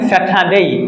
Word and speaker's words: Saturday: Saturday. কারণ দেখেন আমরা কি শিখেছিলাম, আর এর উচ্চারণের ক্লাস আমরা জেনেছিলাম যে আর এর পর যদি পিওর কনসোনান্ট থাকে তাহলে আর উচ্চারণ হয় না।